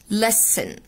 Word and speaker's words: listen: بصوا listen listen، هنا التي silent، التي silent فمنطقة كده listen.